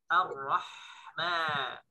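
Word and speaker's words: الرحمن: Tapi huruf ha itu yang dilatih. Bersih. Ar-Rahman. Ar-Rahman. Bukan ar-rah. Ada kotor dikit nyangkut, maka itu temennya, saudaranya ke atas, huruf kha ya. Ini ha.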